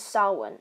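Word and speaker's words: Samhain: Halloween started with salwan that's how it's pronounced by the way an Irish Pagan Festival marking the end of summer and celebrated the spirits and the dead Salon was the root of many Halloween Traditions such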